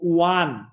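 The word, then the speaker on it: one: আর শিক্ষার্থীরা আরেকটা লিখে দিব ওয়ান, ওয়ান কিন্তু শিক্ষার্থীরা ওয়া, এখানে এই ও আছে, অনেকে অ্যান লিখবেন, কিন্তু ব্যতিক্রম মাত্র দুইটা, ইউ এবং ওয়া। ওয়ান কিন্তু ওয়া এর মতো উচ্চারণ হচ্ছে ওয়া এন, ওয়ান।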